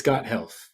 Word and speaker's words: Gothelf: Yeah, it's Gothelf.